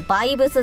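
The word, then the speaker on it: VVS: あるんだけどバイブスって読むらしいですよストンズらしいねブ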